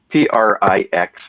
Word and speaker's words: prix: So it's Prix. They pronounce prix, which is French for prize.